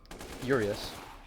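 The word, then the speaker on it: Urias: in on this action urius I believe that's how you pronounced his name uus urius I think it's urius because there's a trophy you get that's called up yours I'm going to save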